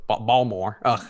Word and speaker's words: Baltimore: Baltimore's accent you know you're not from Baltimore if you pronounce the T Baltimore ball more I know what I